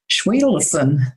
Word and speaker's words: Schwedelson: Her name is Schween. Did I pronounce that correctly?